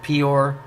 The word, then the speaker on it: Peor: another word for shit, his friend is Eeyore, which rhymes with Peor, and he just happens to be a donkey, which is also known as an ass.